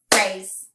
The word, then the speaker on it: phrase: per a zoo yep that s makes the Z sound the e is silent the valve says its name and let's clap that out phrase it is just one syllable let's go on to